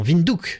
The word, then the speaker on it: Windhoek: Non, Windhoek, c'est comme ça que ça se prononce.